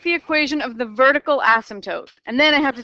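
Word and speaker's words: asymptote: to be your horizontal ASM toote line that the graph approaches at the far right and the far left you don't pronounce the P Asm toote okay we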